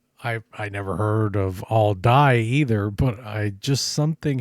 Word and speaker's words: Aldie: For whatever reason, throughout the video, I thought that the pronunciation was all dye and it's all D.